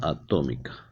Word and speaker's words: atómica: De acuerdo a su masa atómica. Acento en la O.